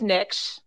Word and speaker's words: Niche: very important day um my my last name is niche um it's one syllable everyone gets it wrong